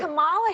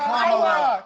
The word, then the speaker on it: Kamala: So pronounce her name And right. Kamala Harris, if Kamala, I Kamala, you said I it will 20 say times.